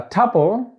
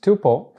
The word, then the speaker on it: tuple: a tuple also pronounced tuple can be defined as